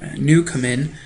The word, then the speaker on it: Newcomen: Newcomen is how he pronounces his name.